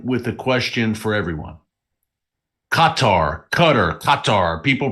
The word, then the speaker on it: Qatar: Qatar. People pronounce it different ways. I know I said Qatar last week.